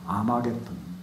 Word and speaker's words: 아마겟돈: 아마겟돈. 이걸 헬라 말로 옮길 때 먹잇도라는 말을 발음을 그렇게 못하기 때문에 아마겟돈 이렇게 해버립니다.